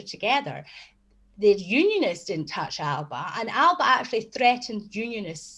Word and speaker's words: Alba: going around on g saying with alexander's voice saying alipa but we would never call it alipa we would call it alba you know so i